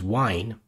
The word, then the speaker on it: Wine: use wine maybe now wine is a program that's available in most Linux distributions and it stands for wine while it's spelled and pronounced the same way as the stuff you drink but it stands for